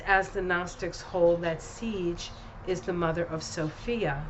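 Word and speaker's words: Sige: It's pronounced siege.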